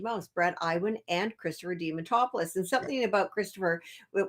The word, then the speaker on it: Diamantopoulos: You got Christopher, and I'm going to say his name wrong. Diamantopoulos. Diamantopoulos.